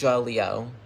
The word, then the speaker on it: Jaleo: You don't say it how it's spelled. You say Ja. So that's the 2 letters, J-A, and then Leo, and then you say Leo. So combine those 2 words, Ja and then Leo, and then combine it, Ja-Leo.